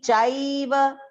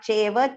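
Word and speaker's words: चैव: Nigruna myutsr, jamicha, amrutain chaiva mrityuscha, amrutain chaiva. Chaiva, not cheva, chaiva.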